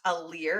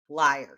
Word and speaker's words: liar: in the last episodes, that it is not a leer as I had thought it was pronounced, but you were correct in pronouncing it liar.